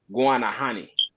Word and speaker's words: Guanahani: though because it's like they actually pronounce it guanahani so so like not Guinea but Guana honey yeah Arabic like Guana